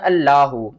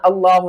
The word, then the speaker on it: اللہ: وہ پڑھتے ہیں اللہ، یہ اللہ نہیں پڑھا جائے گا، اس کو ہم صحیح طریقے سے پڑھنا سیکھتے ہیں اور ہجے بھی کرتے ہیں۔ کس طرح؟ حمزہ لام مد کھڑا زبر آ، لام کھڑا زبر لا، ہا پیش ہو، اللہ۔ یہاں پر دیکھیں تو